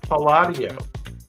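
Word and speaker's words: Andrea Palladio: you got to learn something this is Andrea padio padio that ring a bell to anybody padio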